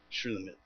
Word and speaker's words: Shulamite: Shulamite, c'est ce qu'on le prononce.